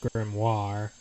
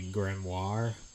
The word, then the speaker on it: Grimoire: these years was that we had actually been pronouncing it wrong the whole time and that it was actually Grimoire.